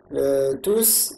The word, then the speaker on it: tous: Les élèves sont maintenant silencieux, tous travaillent, donc tous, le S s'entend à l'oral, tous travaillent.